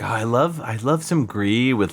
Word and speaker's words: Gris: I was originally assuming it was French because that's how you'd pronounce it in French, but apparently it was a Spanish studio that did this.